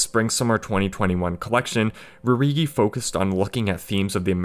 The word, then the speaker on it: Rhude: And final fun fact, Rhude is spelled like rude because it's tradition in Rhude's family to start all the names with RH, so like Rhude is just rude with an RH, so it makes rude instead of rude.